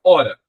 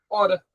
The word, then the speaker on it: hora: Se eu colocar o H, a palavra é hora. Oxe. Então, tanto faz ter o H ou não ter? É verdade. Então, o H ele não é pronunciado nesse começo da minha fala.